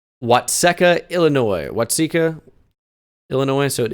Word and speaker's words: Watseka: Illinois off the rip welcome to why Sika wysica could be could be an Illinois plate in Wisconsin kind of sounds like a Wisconsin Town name nope it is Watseka Illinois Watseka Illinois so